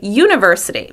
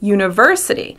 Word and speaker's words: university: Sometimes people say university. Native English speakers say university.